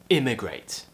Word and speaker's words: immigrate: now the next one you might think they're pronounced the same but actually they are different emigrate and immigrate at the beginning like an elliot tongue in